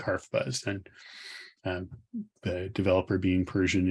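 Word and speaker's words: HarfBuzz: the literal persian translation the word open type is pronounced something like harf buzz and the developer being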